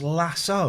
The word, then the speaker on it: lasso: It's pronounced lasso. A lasso. Not lasso.